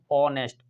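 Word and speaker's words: honest: ऑ pronounce एशन क्या ऑनेस्ट ऑनेस्ट मैन ये नेस्ट में नहीं है ये ऑनेस्ट में तो उसका साउंड किस में जा रहा है ओ में जा रहा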